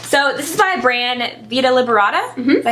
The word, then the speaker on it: Vita Liberata: So this is by brand Vita Liberata.